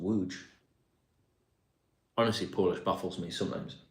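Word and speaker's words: Łódź: Lots is pronounced Wuj.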